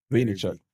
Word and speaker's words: Vaynerchuk: Vaynerchuk.